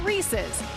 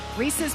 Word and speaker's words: Reese's: now yeah except for you're saying it wrong in Tennessee I mean growing up it was Reese's not Reese's that's right I had to